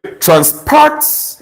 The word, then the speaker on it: transport: to be pronounced transport so you stress the second syllable therefore I conclude that